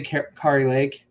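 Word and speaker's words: Kari Lake: think Sam Brown's a guarantee I would say k Lake uh K Lake yes that's how you say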